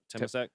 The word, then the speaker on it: Temasek: Temasek, is that how you say it? Yeah, Temasek.